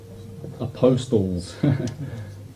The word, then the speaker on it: apostles: See, when you do this with the zodiac, these are posts, or apostles. Yeah, silent T sort of, you know, tricks you a little bit there, but 12 posts.